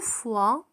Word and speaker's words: foie: لدينا 3 كلمات تتشابه في النطق، لكن كل واحدة لها معنى. كي لا تخلطوا بينها، لدينا la foi هو الإيمان، و le foie avec E le foie هو الكبد، ولدينا une fois بمعنى مرة، fois بمعنى مرة avec S à la fin. Le foie, la foi et une fois.